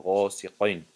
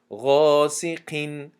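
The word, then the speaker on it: غاسقين: قاف که استعلا هست فکر میکنن که در حالت کسره بودن همی استعلا بر این تلفظ می شود، یعنی غاسقین می شود گفته، همین خیلی تلفظ میکنن غاسقین. این خطا است، بلکه غاسقین تونک خونده می شود قاف.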